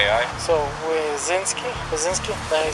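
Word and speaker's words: Wysynski: on my uniform what's your name uh wasinski what is it wisinski how do you spell that b r e n d e n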